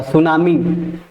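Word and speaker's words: tsunami: सुनामी। ठीक है? ऐसा मत लिख के चलिएगा। गलत हो जाएगा। टी सु टी लगा दीजिएगा आगे। बल्कि टी साइलेंट होता है।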